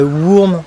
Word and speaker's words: Wurm: Mais normalement ça se dirait worm, enfin ça s'écrit Wurm, ça veut dire vert en allemand mais pas mais vert de terre quoi.